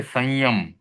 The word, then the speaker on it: संयम: Stop auto चालू भी य र ल व श स और ह इसके पहले आने वाले अनुस्वार का उच्चारण हम म की तरह कर सकते हैं। जैसे संयम तो इसमें सम यम संस्कार संस्कार संस्कृत इस प्रकार से उच्चारण इनका किया जा सकता है।